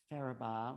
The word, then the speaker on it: Farabaugh: how do you say your last name again farabaugh farabaugh faraba here in sedona at the dream